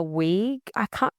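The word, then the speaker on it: Weug: Maya Weig. It's W-E-U-G, Weig. If you can't pronounce that, I know. the queen of pronunciation. Maya Werg.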